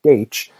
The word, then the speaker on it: Deutsch: And while I'm here, I should say that I receive both praise and concern over my pronunciation of Deutsch. Some people said, "Yeah, you nailed it." Other people said in Russian, it would be more properly de.